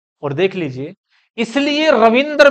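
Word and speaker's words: रवींद्र: पहली बात तो इसका उच्चारण होगा रविंद्र, और यही शुद्ध है।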